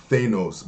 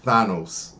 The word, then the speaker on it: Thanos: with Avengers Endgame with I used to call this guy all my life Thanos, but obviously it's Thanos. That's how you say his name.